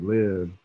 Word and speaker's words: Livv: know i can just kind of i can live you know and then uh i was like yeah like that's i like that like live and then from there i was like bro